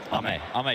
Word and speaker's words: Ame: game closer, probably for Amy, how do you pronounce that? Ame God.